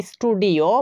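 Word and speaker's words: studio: তো এখানেও আমরা এস এর পরে টি ইউ দুইটা লেটারকেই দেখতে পাচ্ছি, তাই আমরা তার উচ্চারণটা ট এর মতো করছি। স্টুডেন্ট, যার অর্থ হচ্ছে ছাত্র। তেমনি করে বলা যাবে স্টুডিও মানে হচ্ছে চিত্রশালা।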